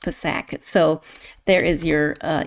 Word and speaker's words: Psak: of her name and it is with the P pronounced not silent.